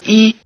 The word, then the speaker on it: 一: Notice that the high tone of "yī" changes to falling tone before the high tone of "jīn".